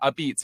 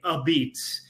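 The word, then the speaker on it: apizza: Well, well, first of all, thank you for pronouncing uh it correctly, ABS. You know, that's what we're known for in New Haven.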